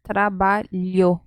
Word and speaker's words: trabalho: Então, a pronúncia é trabalho, trabalho, não ficção, no ficción.